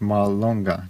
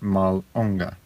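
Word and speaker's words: mallonga: you don't say sen same with Mal longa not malonga there's a little bit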